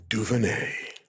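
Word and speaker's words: DuVernay: who's doing it Mark Eva duvin that's how you pronounce her name yeah God I gave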